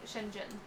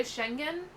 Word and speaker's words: Schengen: It could be the Schengen. I don't know if that G is like a hard G where it's like a J, like a J sound, or if it's a G sound.